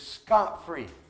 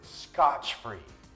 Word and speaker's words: scot-free: the next one is scot-free some people pronounce it Scotch free well Scotch is whiskey so Scotch free would mean without whiskey well the expression scot-free